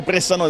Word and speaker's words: Bressanone: Oggi è il giorno di Feoni Brixen, oppure Bressano, se preferite la pronuncia italiana, una gara molto importante per la squadra di coach Patrizio Pacifico.